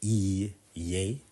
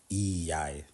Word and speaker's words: ei: yes and no so yes is e um so it's hard to write how it's pronounce I've wrote it as a y a y but it's more like e yay um so yeah that's just means yes and to say no it's EI so eii so yeah e